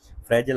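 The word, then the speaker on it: fragile: Pakistan फ्रेजल economy या फ्रजाइल economy फ्रेजल और फ्रजाइल इसको बहुत प्रोनाउंस किया जाता है।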